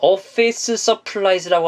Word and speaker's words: office supplies: office의 스 발음이랑 supply의 스 발음이랑 중복이 되기 때문에 이걸 연음 처리해서 한 번만 발음하시면 office supplies, office supplies 이런 발음이 들리게 됩니다.